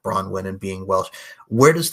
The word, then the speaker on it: Bronwyne: My mom put a silent E on the end. So they'd say Brownie. I got that a lot. When they do the attendance list, they're like Brownie. And I'm like, Bronwyn.